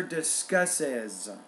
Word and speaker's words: discusses: Don't forget the lecture discusses. 3 syllables, not 2, because it ends in S, right?